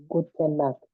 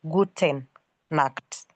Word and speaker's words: gute Nacht: Gute Nacht. Very right. So you say not gute Nacht. You say gute Nacht. Not guten Nacht. It is gute Nacht.